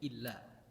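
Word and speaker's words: إلا: Kalau tulisannya alif lam itu pasti bacanya illa. Ila itu ketika tulisannya lam sama ya. Itu baru ila bacanya. Tapi kalau alif lam alif itu pasti illa illa an yatar an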